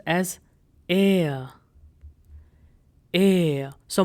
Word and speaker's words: R: R is pronounced as air. Air. So most of the time it happens that R is silent in German.